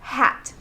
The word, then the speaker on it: hat: Let's look at the word hat, H-A-T. The A as a vowel is a short vowel sound, ah.